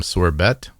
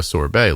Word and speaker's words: sorbet: did have uh some sorbet you're not supposed to pronounce the T but I had some mango sorbet last night um and